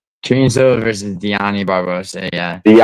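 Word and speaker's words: Dione: like So, well, I'm bad at pronouncing names. So, Karen Silva versus Don Barbosa. Karen Silva versus Dioni Barbosa. Yeah, Diani.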